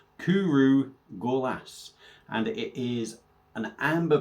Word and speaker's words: Cwrw Gorlas: And apparently it is pronounced Cwrw gorlas.